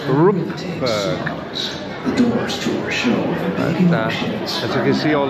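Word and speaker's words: Rookburgh: section of the park I've been referring to that area that we've just left as rockberg Mrs H has just pointed out to me that is spelled r k so it's Rook as you can see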